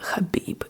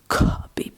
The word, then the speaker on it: Khabib: his name as Khabib Kabib because it's spelled like in English K h a but they made this K h a to emphasize the different pronunciation of the Russian H, but instead people just